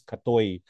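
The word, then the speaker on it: กะเทย: that they used was us was uh is pronounced as katoi atoi actually reflects more in terms of androgyny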